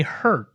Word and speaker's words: Herte: It's a podcast on Black masculinity, Jeremy Hurt. Did I pronounce that correctly? That's exactly right. Yep, silent E. Silent E on that.